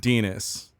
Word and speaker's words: Denos: It's pronounced Denis.